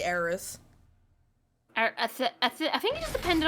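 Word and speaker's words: Aerith: that some people pronounce Aris some people pronounce arith but you know I say aerys I think you just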